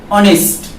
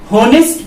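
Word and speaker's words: honest: अब जैसे एक वर्ड है ऑनेस्ट, ऑनेस्ट वर्ड के का पहला जो लेटर है वो एच से स्टार्ट होता है। अगर हम इस वर्ड को ऑनेस्ट ना पढ़ के होनेस्ट पढ़ दिए तो जाहिर सी बात है आप तो एक उच्चारण भी गलत कीजिएगा और दूसरी तरफ आपके आर्टिकल्स भी गलत हो जाएंगे।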